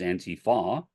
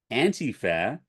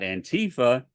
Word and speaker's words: Antifa: Antifa, the correct pronunciation in English, in German, the correct pronunciation is Antifa, but either way is an acronym. It is an acronym for anti-fascism. So, anti-fascism. There you go. So once you realize that the pronunciation is Antifa, not Antifa, that gives you a